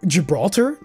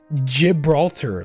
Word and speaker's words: Gibraltar: Somebody was telling me about Gibraltar. So, in British English, I'm almost fucking for sure that it's pronounced Gibraltar.